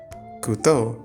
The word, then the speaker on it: couteau: get the singular form 'couteau'. (it's funny because it's pronounced the same with or without the final -x) Next, there’s the -eau